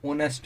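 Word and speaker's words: honest: Okay यू कैन बे ऑनेस्ट मैन मैं इसमें जो रस होता है वह साइलेंट होता तो 19 बोलते हैं इसको ऑनेस्ट मैन अ है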